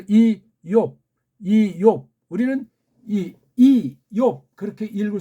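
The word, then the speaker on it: איוב: 우츠 이오브 요거 베이트를 발음하는 데면 걔네 발음으로 이욥 우리는 이욥 그렇게 읽을 수 있는데 한글을 번역하니까 제목이 어떻게 되어 있죠? 욥 잘못되어 있는 거예요. 이옵이라고 해야 돼요.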